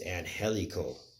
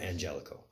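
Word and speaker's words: Angélico: correcting myself right now I've been saying it wrong the whole time is an helical not Angelico and helico so I'll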